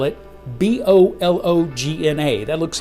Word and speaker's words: Bologna: very good peter okay let's see production bologna baloney baloney stop it i don't want that one correct italian pronunciation let's see bologna i'm going to start